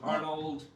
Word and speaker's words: Arnaud: how we're keeping it so it is pronounced Arnold it's pronounced Arnold but over the years